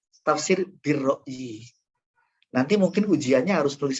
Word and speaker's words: Tafsir Bi Ar-Ra'yi: Jangan lagi tafsir al-ro'i ya. Tafsir bir-ro'i.